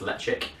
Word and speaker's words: Ledaig: It's spelt Ledaig, but it's pronounced Ledaig, and it's produced at the Isle of Mull, or the Tobermory distillery.